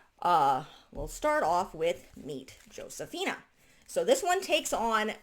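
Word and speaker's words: Josefina: And I'm probably going to be calling her Josafina because English is my first language, obviously. In Spanish, it would be Josafina because their J's are pronounced as an H, and it does mention that in her books.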